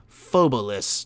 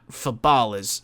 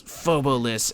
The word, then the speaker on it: Phobolis: number one the name of the game is pronounced fobis not fabalis so it's fobis and not how I'm about to butcher it